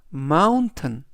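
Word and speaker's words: mountain: t이 들어 있고요 t은 우리말로 튼 그래서 전체적인 발음은 마운튼 마운튼 마운이라고 발음하시면 되겠습니다 품사는 명사 뜻은 산이라는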